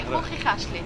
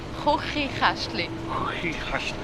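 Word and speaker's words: Chuchichäschtli: say Kochikästli. Will you teach them a word? That's the difficult sound. Kochikästli.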